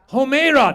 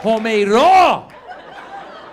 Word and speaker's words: Homeira: Homeira. That's a Persian name, Blake, right there. Multiple syllables. Homeira.